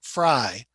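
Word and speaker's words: Frey: Now, F-R-E-I and F-R-E-Y, the family name, are both pronounced Fry.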